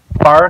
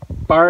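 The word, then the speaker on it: barre: I just actually finished bar class. Now I've been doing this for about a month and a half now, I guess almost. And if you've never heard of bar before, it's spelled B-A-R-R-E.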